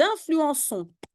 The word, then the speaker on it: influençons: Nous influençons. Oui, il faut une cédille, sinon c'est nous influençons.